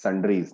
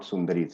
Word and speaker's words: sundries: Pronounce it as sundries, not sundaris.